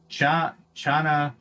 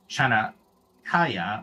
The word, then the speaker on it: Chanakya: I did a pronunciation guide and everything. Let's see. Let me see. Chanakya, I think it's called.